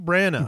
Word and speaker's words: Branagh: It's Kenneth Branagh. Branagh. Yeah, the G and is silent, Sir, right? Sir Kenneth Branagh. The G is silent?